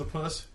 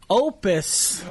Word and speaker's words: Opus: Mr Holland's a puss I think you're mispronouncing that J oh am I yeah wait what I'm sorry that was a great movie by I believe that Mr Holland's Opus oh no it's pronounced opus okay okay I think